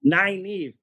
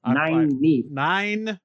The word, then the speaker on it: Nynaeve: Naive. Like 9-inch nails. Naive. Nine times.